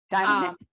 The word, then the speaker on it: Dimon: So, take, take, take Jamie D, Dylan, Damon I always say his name wrong. - Dimon - Or anybody who's in charge of a large corporation.